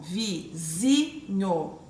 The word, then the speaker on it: vizinho: Uma paroxítona, vizinho, ó, vizinho. O zi eu consigo identificar que é a minha sílaba mais forte.